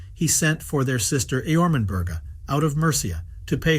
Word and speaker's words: Ermenburga: Ermenburga, pronounced Ermenburga, otherwise called Domneva, was married to Merwald, a